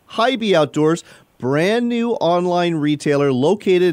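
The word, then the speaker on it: HIBY: spelled high hig B why outdoors but it's pronounced high be outdoors brand-new online retailer located in Sydney Nebraska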